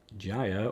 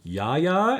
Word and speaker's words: Jaya: he gets blinked again jaya or yaya as i'm told to pronounce her name i've never heard it said that way but if that's what people in the comments think it should be then that's that's fine uh this version of chandra